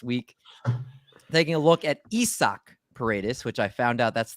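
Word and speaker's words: Isaac Paredes: over this past week taking a look at isak paredes which i found out that's the proper way to pronounce it according to our buddy britton allen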